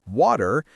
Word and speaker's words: water: In water, most Americans don't pronounce a hard T. Instead, it becomes a soft flap T, which sounds a lot like a quick D. So, instead of water, it's water.